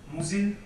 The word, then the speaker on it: Musil: I think in German it's pronounced Musil, Robert Musil.